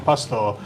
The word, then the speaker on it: Pastore: So we've got Ben and Chris from Pastore. So this is the bit I used to always say to Lee, I've tried a really good beer. It's from Pastore.